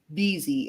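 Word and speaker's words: Vhezy: I want Vzy. And I think that's how it's pronounced, but V H E Z Y. I said, "Oh, okay. So, like Pawn Bezy." She goes, "No, just Vzy."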